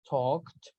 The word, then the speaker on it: talked: For example, very nice here, talked. Remember, no L, talked. Good job.